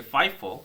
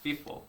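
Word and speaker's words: FIFO: by the way do you know how to pronunciate fi F4 it is actually five4 not F4 so if you are going to pronunciate pronunciate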